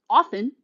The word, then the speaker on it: often: smart so yeah Chantal often often is like Castle it's a silent t English 101 stuffed cupcake